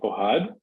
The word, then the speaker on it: Ohad: Ohad Ohad in in America in the USA say that my name is Chad because it's easier to pronounce but my name is Ohad and I'm from Israel